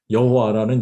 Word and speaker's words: 여호와: 한국식 발음은 바를 와로 발음을 하죠.